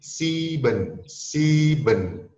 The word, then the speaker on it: sieben: 7, di situ ada IE, jadi bacanya agak panjang di C-nya menjadi sieben.